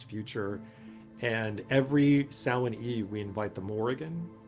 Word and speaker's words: Samhain: us, it's the Witch's New Year, and it's pronounced Samhain, even though it says, or it's like spelled Samhain, it's pronounced Samhain.